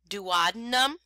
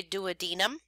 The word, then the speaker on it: duodenum: one before Denton digestion duodenum some people say duodenum either one is fine elimination emulsification enamel enzyme